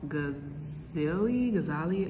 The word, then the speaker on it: Ghazali: Through the philosopher that we're discussing today, I think it's pronounced Ghazali, and basically his dream argument.